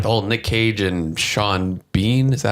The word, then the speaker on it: Sean Bean: I thought like they had good chemistry together, and then like the whole Nick Cage and Sean Bean, is that how you pronounce it?